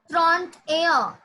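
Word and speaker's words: trente et un: Trente-air. Trente-air. Just you pronounce 21. You have to pronounce 31.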